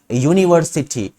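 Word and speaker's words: university: तो यहां पर एन का यूज होना चाहिए, लेकिन अगर इसके उच्चारण पे ध्यान दो तो क्या कहते हैं इसे हम, यूनिवर्सिटी। तो इट स्टार्ट्स विद य साउंड, ठीक है। ये जो है य साउंड से जो है शुरू होता है, जो कि कॉन्सोनेंट है,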